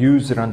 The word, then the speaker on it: use: 사용하다 의미의 use라는 단어의 명사 발음은 use.